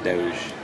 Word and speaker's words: Doge: saying it right no it is it is Doge oh Doge okay so doge is actually just